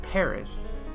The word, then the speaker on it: Paris: in English it's pronounced Paris but everywhere else they pronounce it without the S sound like the French do but with venecia everyone